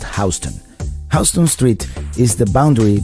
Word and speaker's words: Houston Street: job at that is spelled like the city of Houston in Texas but pronounced Houston Houston Street is the